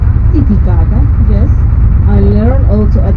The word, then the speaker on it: Titicaca: The correct pronunciation is Titicaca. It's a little bit more strong.